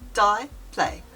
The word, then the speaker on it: diple: The dplay, pronounced dplay, was first used by ancient Greek scribes as a marginal mark.